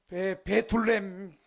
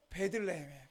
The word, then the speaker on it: 베들레헴: 여러분, 베둘레헴 뚱뚱한 베둘레헴이 아니고 베들레헴에 따라합시다. 베들레헴.